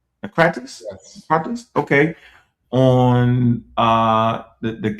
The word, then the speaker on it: Naucratis: Naucratis?